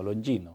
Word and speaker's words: Longino: se pronuncia así como tipo italiano, Longino.